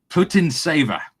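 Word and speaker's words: Putintseva: Uh but no, Nimia against Putin Saver. Is that how you pronounce her? That's it. Spot on.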